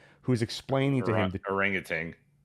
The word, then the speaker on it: orangutan: Orangutan. That's how I always said it growing up, but there's no G at the end. And if you look it up, the pronunciation is orangutan. There's a G.